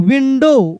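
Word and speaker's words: window: ओ डब्ल्यू विंडो विंडो देखिए डब्ल्यू का अलग से साउंड नहीं आ रहा है क्योंकि डब्ल्यू यहां पे साइलेंट है। डब्ल्यू की साउंड आ ही नहीं रहा है। ओ को हम लोग पढ़ रहे हैं। यानी ओ डब्ल्यू अगर एक साथ आता है तो ओ को पढ़ेंगे। डब्ल्यू साइलेंट कर देंगे।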